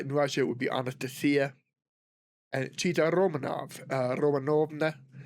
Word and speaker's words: Anastasia: So, uh, Anastasia was how we typically pronounce it here in the United States and I'm I suspect in other English- speaking areas quite commonly, but in Russia it would be anastia.